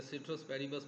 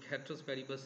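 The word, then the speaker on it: ceteris paribus: इसमें जो मतलब स्कार्सिटी यूटिलिटी और खैट्रस पेरिबस या सिट्रस पेरिबस पढ़ते हैं, रियल इसकी प्रोनाउंसिएशन खैट्रस पेरिबस है, ये चीज़ बच्चे ने पूछी है.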